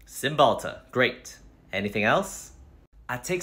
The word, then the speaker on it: Cymbalta: Chillin okay what else I recently got off symbols ta-da and what was that for symbols ta-da is for my depression and anxiety Cymbalta great anything else I